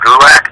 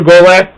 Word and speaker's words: Gulak: Just follow me on Twitter at Drew Gulak. That's DREWGULAK. It rhymes with attack.